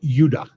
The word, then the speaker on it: Judah: were called Benjamin and Judah more properly pronounced yudah because we didn't get the harder sound to J until about 200 years ago until the year 1524